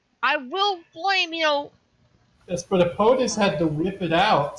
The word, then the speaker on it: Ippotis: Well, That's not how you pronounce Ippotis. it was Ippotis You and need to-